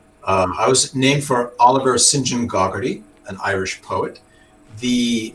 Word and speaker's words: Saint John: name is it's so it's called saint john but it's pronounced sinjin that's interesting i uh